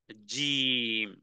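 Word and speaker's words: ج: এরপরের হরফ হলো জিম এটি পাথরের মতন শক্ত বলা যেতে পারে পাথরের মতন শক্ত করে মানে উচ্চারণে ধাক্কা দিতে হবে এবং উচ্চারণ হবে কোত্থেকে জিহ্বার মধ্যখান জিহ্বার মধ্যখান থেকে এটাকে উপরের যে তালু আছে সেই তালুর সঙ্গে লাগিয়ে দিতে হবে এবং অনেক লম্বা একটা টান দিতে হবে বলা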